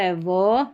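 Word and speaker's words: have: वी का sound रहता है व, जैसे वेस्ट, और वी ई को भी व पढ़ते हैं, हैव में है क्योंकि ई साइलेंट है।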